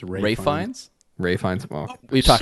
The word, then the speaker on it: Ralph Fiennes: The other movie I went and saw is The Menu, starring Ralph Fiennes, Anya Taylor-Joy, I think it's Ray Fiennes.